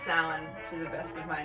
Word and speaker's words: Samhain: holiday of samhain um it looks like samhain but it is definitely not pronounced that way pronounced sound to the best of